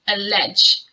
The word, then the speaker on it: allege: any proof or any evidence so it is pronounced allege what you allege is very serious here we